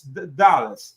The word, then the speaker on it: Dulles: The pronunciation is Dallas. I don't want to say anything. No, no, but you're right. It's like the airport in in Washington dedicated also.